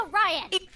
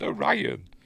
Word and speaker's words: Orion: to steal it from us first and it's pronounced or Ryan and it's pronounced or Ryan anyway um so the the queen or whatever